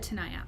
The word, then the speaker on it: Tanaya: it in new zealand yes i pronounced it right okay good tanaya that's such a pretty